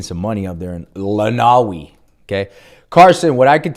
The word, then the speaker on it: Lenawee: That county is pronounced Lenawee. Ooh, see, I knew I was wrong. Thank you for that. Thank you. Lenawee.